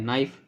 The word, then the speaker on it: knife: अब बोलेंगे सर यहाँ पे के भी तो है, के नाइफ होना चाहिए, तो नहीं, के आपका साइलेंट है, इसको नाइफ पढ़ते हैं, ठीक है, तो आई कट the paper with नाइफ, मैंने चाकू से पेपर या फिर कागज काटा।